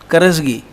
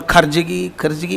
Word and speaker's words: Karajgi: In fact, I always say, only in Maharashtra they pronounce my name correctly. Karajgi. In Karnataka they call Karjagi, whatever different way. I feel so happy when I am called Karajgi. I am called the right way.